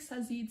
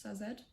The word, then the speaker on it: Sazed: or says ed zazeed i feel like sazeed sounds better but it's probably pronounced sazed every time sazeed was